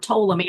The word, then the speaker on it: Ptolemy: I say it's hard to pronounce because it starts with a P, but it's pronounced with a T.